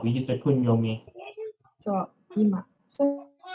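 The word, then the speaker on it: 今: So ima. So if it's only this kanji, then you use the kunyomi, which is ima.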